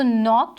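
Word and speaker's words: knocked: तो इसमें हमारे पास जो नॉक्ड है इसमें हमने K को एज अ साइलेंट यूज़ किया हुआ है, यानी K को हम प्रोनाउंस नहीं करेंगे, हम इसको नॉक्ड पढ़ेंगे, नॉक्ड नहीं पढ़ेंगे, नॉक्ड पढ़ेंगे।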